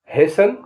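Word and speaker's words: hasten: एम एन डम माने बदुआ देना टी से साइलेंट होने वाले words H ए एस टी ई एन हेसन माने जल्दी एल आई एस टी ई एन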